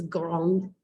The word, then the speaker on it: grand: you uh grong g-r-a-n-d in english it looks like grand in french it's grong blanc b-l-a-n-c blanc gran